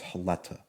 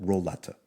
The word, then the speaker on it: Roleta: His name was Haleta. Okay, in Portuguese they don't pronounce the R's; they Mm-hmm. pronounce them as H's. So in English it would be an R. So Roleta.